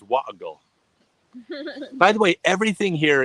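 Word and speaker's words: Warragul: Oh, but they don't pronounce the R, so it's Warrigal.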